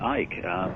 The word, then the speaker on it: Icke: They called me Ike. They called you Ike? Yeah. I mean, you don't pronounce the C.